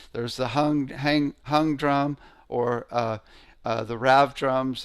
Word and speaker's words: Hung: There's the hung drum or the rav drums, which are really sweet.